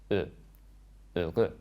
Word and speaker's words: heureux: similar to the first sound in the English word about. About. But round your lips and you'll get heureux.